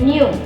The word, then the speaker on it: knew: Here again, the pronunciation is same.